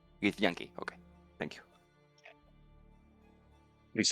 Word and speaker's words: Githyanki: Gith Yankee? Git Yankee.